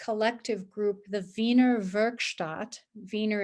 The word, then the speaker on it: Wiener: group the wiener virgstadt wiener is the german pronunciation for vienna that was in austria